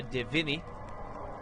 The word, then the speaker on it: de Vigny: Mademoiselle Justine Flaubert, who is, according to rumors, romantically involved with Monsieur de Vigny. I think is how you would pronounce that in a French accent.